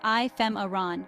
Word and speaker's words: ephemeron: temporary and insignificant nature the pronunciation is I fem Aran with the stress on the second syllable use ephemeron to emphasize